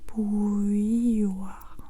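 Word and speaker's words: bouilloire: et grand nuit grandoui on prononce comme ça donc je dis bouilloir bouilloir comme grandoui rabit rabbit oui grand nouille bouir bouir bouilloir, c'est ça que je vais dire.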